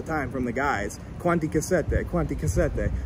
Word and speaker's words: Cassette: Yeah, because I asked somebody, an Italian guy about you, and he said cassette. Yeah, exactly. And I was like, okay, well, it makes sense because they pronounce the E. Exactly, cassette, exactly.